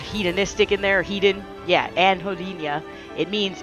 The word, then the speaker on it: anhedonia: example of a pretty common negative symptom is anhedonia, which I'm probably not pronouncing right because I'm stupid, but it's spelled A-N-H, Jesus Christ, Anhedoni, okay? And you might recognize the word hedonistic in there, hedon. Yeah, anhedonia.